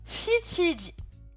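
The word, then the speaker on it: 七時: Et en effet, donc 7h, si on regarde le tableau, ça se prononce Shichiji.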